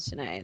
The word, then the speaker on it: Shenae: Yeah, it's an Irish name, but it's not supposed to be spelled the way my name's spelled. That's like my mom's phonetically spelled version that she felt was right. It's actually supposed to be spelled S-I-N-E with a little accent over the E, but she didn't want people calling me like Fine.